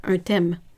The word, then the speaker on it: thème: It's un thème. But the H is silent.